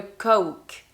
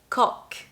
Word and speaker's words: Coke: But in English, we're actually going to ask for a Coke. Coke. And be careful with the pronunciation. You don't want to say cock because that's something else.